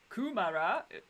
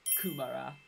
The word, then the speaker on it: kumara: it's more of a it's a Maori word but uh kumara or kumara oh mostly how we've heard it pronounced it's just kumara yeah so yeah and